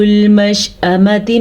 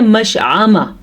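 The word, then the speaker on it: مشأمة: بات یہ ہے کہ اکثر لوگ پڑھتے ہیں مشعامہ، مشعامتی اگر آپ پڑھتے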